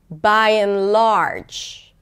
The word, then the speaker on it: by and large: So you stress the first word, then you reduce the middle word, right? The conjunction or the preposition, and then you stress the second word, whereas the second word is usually stressed a bit more.